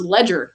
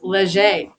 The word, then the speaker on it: Leger: Like whenever I first moved here, I thought my husband's boss's last name was Ledger. No, it's Leger.